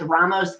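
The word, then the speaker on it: Rao's: I use low carb wraps, ground turkey, and Italian sausage with Ramos, how do you say that?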